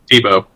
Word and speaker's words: Thibault: Is it Thibault or Tebow, or how you pronounce that? Tebow. Tebow? Just like Yeah. the disgraced football player?